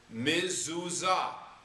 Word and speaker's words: mezuzah: So you're going to learn to be able to pronounce the word mezuzah.